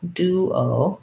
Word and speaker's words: duo: So duo sounds like an oo and an o, duo, duo, duo.